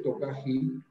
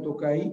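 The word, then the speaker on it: Tokaji: Pablo bien dice el Tokají. Porque ese Tokají, sí, perdón. Porque ahí hay una J. La J en húngaro se pronuncia como la Y, es Tokay.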